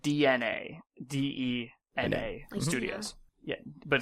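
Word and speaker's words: DeNA: Um, they partnered with a company called DNA. DNA studios. Yeah. But it's pronounced DNA.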